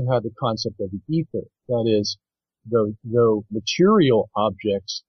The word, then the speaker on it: aether: Yeah, ether. Ether. It's spelled in two different ways, E-T-H-E-R or A-E-T-H-E-R.